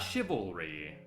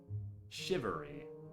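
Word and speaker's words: charivari: how is shivery spelled yeah not shivalry shivery slightly different pronunciation I gave up before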